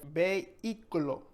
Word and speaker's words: vehículo: Next up, we have vehículo. Vehículo. Vehículo. Not going to pronounce the H. No se pronuncia for vehicle.